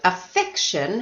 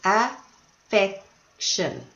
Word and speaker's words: affection: face gently of course this word affection has three syllables affection where was the stress affection in the middle the second syllable I was really happy